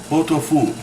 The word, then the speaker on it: pot-au-feu: It's pronounced potafu. Potafu. It's a French beef stew.